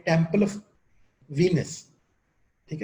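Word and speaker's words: Venice: यहाँ वीनस से ना एक कंफ्यूजन भी पैदा होती है, VENIC, वो इटली का एक शहर है वेनिस, उसको प्रोनाउंस करेंगे वेनिस, और जो गॉडेस है वो वीनस है।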